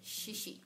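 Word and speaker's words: xixi: Sobre todo en Colombia, escribimos la palabra chichi con CH. Por eso el sonido es tan fuerte, chichi. En portugués se escribe con X. Y también por causa de eso el sonido es un poquito más leve, shishi.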